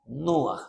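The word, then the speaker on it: נוח: Nuaj se parece a Ruaj, pero es con N.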